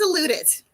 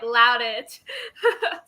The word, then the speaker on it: Louttit: loot it okay I I thought I was saying it wrong I was saying it like loud it don't feel bad literally every teacher I ever had pronounced it the exact same way so okay there's dozens